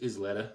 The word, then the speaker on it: Isleta: The Isleta, is that how you say it? Yeah, just Isleta.